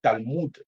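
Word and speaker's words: Talmud: dans les talmides ou talmoud si la prononciation n'est pas correcte pour les autres tu peux dire talmoud çaàd t a l m U2 t a l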